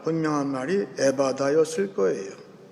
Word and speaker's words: 에바다: 듣는 말, 분명한 말이 에바다였을 거예요. 에바다. 특별히 에바다 할 때 맨 뒤에 히브리 말 H 발음은 아주 강한 발음이에요.